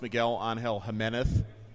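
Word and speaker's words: Miguel Ángel Jiménez: Miguel on Hill Jimenez Miguel on Hill Jimenez that is actually how it's pronounced that's exactly what Jim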